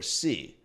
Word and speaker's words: Sei: The first one is Sei, or C, depending on who you ask. Japanese pronunciation would be C. But I guess if you're looking at something else, it might be Sei, whatever it may be.